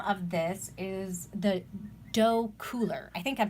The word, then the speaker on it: Docooler: of this is the dough cooler I think I'm pronouncing that right I'm phonetic I'm a reading tutor so you know I pronounced it as dough as do c ool er so this is a